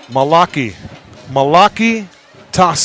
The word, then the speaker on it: Malachi Tasse: Malachi Tasse. Malaki Tasse. We'll double check that. Malaki Tasse. That is the correct way to say that.